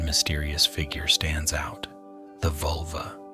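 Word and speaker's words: völva: The vulva, pronounced vulvu.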